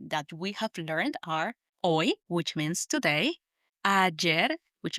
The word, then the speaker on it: hoy: So let's start with the temporal adverb, the describing word for today, which is hoy. Hoy, spelt H-O-Y. Hoy. Remember that the H in Spanish is silent.